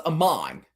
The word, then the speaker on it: Amon: It's really pronounced Amon. Amon R. Yeah, because if it's man, it's MAN or MANN. But if it's AA, if you're saying MAAN, then it should have been pronounced Mon.